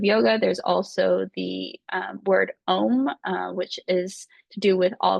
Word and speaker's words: Om: always available, which is OM. Ghazal Hassanzadeh: and you pronounce it A-U-M, and if you come to a semantics class, we might be doing one of those, here and there.